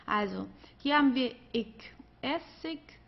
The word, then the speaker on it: Essig: Also hier haben wir ik, Essig, König. Okay? Also hier am Ende, das wird eher wie ein K ausgesprochen oder manchmal wie ein H, also wie du möchtest. Essig, ja, Essig oder König.